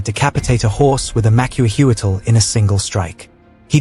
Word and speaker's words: Macuahuitl: The Macuahuitl, roughly pronounced Macuahuitl, was essentially a Mesoamerican chainsaw sword.